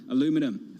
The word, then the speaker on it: aluminum: we have both aluminum forgive my pronunciation in london i'm doing it the american way i'm in new york copper down by about 1.2 percent as well and commodities down two more broadly yeah aluminium a little i'm not going to pronounce it the british way do you want it